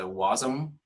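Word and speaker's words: Wasm: all the way to the bottom there's a wasum that's how you pronounce the W ASM and it says build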